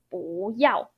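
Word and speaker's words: 不要: Your 不 need to pronounce as second tone. So it's 不要.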